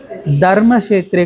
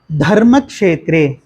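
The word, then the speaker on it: धर्मक्षेत्रे: தர்மக்ஷேத்ரே கிடையாது. எப்படி சொல்லணும்? யாராச்சும் ஒருத்தங்க செந்தில்ஜி சொல்லுங்க. Very good. ராதாமா சொல்லுங்க. நோ, தா அப்படின்னு சொல்லணும். தர்மக்ஷேத்ரே தா வரணும். அதாவது இது ஹா இது சேர்ந்தா எப்படி வரும்? அது ஸ்பீடாக சொல்லணும் அப்படின்னா எப்படி வரும்? தா அப்படின்னு சொல்லுவோம் இல்லையா, அப்படி சொல்லணும். தர்மக்ஷேத்ரே.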